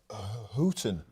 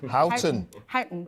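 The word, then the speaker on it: Huyton: Peter mson just picked me up on my pronunciation of hooton hton he says hon hton well this spring exactly Chris I think it's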